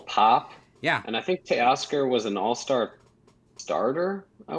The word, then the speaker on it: Teoscar: We have how do you pronounce this? Teoscar Hernandez?